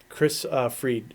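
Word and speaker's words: Kris Fried: Chris Fried. It's spelled like it looks like fried.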